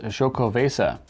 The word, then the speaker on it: Xocoveza: me as far as choco vasa which honestly it was written how to pronounce it on the can it says say sho i was thrown off with the x who wouldn't be right